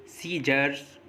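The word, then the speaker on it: scissors: होगा, जैसे accent, science, सीजर्स, disciple, muscles, scene, इन सभी वर्ड्स में एस के बाद सी आया है और एस के बाद आया सी साइलेंट रहता है।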